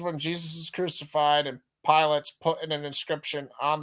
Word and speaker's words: Pilate: four verses uh so pilotti wrote an inscription excuse me I always mispronounce it pilot pilate also wrote an inscription